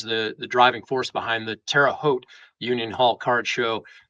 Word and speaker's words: Terre Haute: It's Terre Haute. So when people come into the show or come into the shop and say Terry Hot or Terra Hoot, I know they're from out of town.